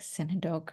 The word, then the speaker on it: synecdoche: I was like synecdoche, or it's like a weird I word.